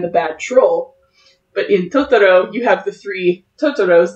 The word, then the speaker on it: Totoro: And Totoro is a mispronunciation of Tororu, which is troll, as they would say it in Japanese.